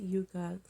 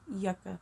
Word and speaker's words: Yucca: to be ordering the is not pronounced Yuka I've been hearing it all over YouTube it's it's pronounced Yucca palette and yucca is